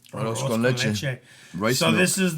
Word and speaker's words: Arroz con leche: Pronounce it correctly. Arroz con leche. Arroz con leche.